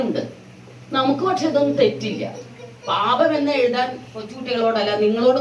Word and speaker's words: പാപം: നല്ല വാക്കാണ് പറയാൻ പറയുന്നത് പാപം എന്ന് പറയുമ്പോഴേ ആദ്യത്തെ അക്ഷരം ഇല്ലേ പ ആ പ ഉച്ചരിക്കുന്ന പോലെയാണോ രണ്ടാമത്തെ പ ഉച്ചരിക്കുന്നത് അല്ല വ്യത്യാസമുണ്ട് അല്ലേ ആദ്യത്തെ പ എന്ന് ശരിക്കും നമ്മൾ അക്ഷരം പഠിക്കുമ്പോൾ ഉള്ളത് രണ്ടാമത്തെ പയും ബായും തമ്മിൽ എന്താ വ്യത്യാസമുണ്ടോ വ്യത്യാസം തോന്നുന്നില്ല അല്ലേ പാപം എന്ന്